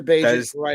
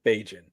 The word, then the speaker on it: Bagent: Bajan? That is Tyson Bagent.